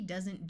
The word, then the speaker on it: does: have from and does while o e usually has a long o sound in this word the E doesn't do anything also notice the S uses its second Sound Of Z here we have covet